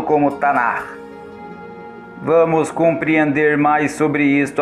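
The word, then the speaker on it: Tanakh: de Esra, o qual foi nomeado como Tanar, pronunciado como Tanar.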